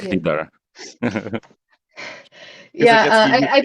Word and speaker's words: LiDAR: So yeah, I How guess how the do you ones actually used in pronounce it? LiDAR, LiDAR, it's LiDAR.